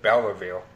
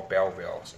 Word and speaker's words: Belleville: I pronounce it Belleville boots I used to pronounce it Bela veal boots bit of a knot and then my friend corrected me and he told me they'll call bell wheels and so yeah but anyway yeah so reason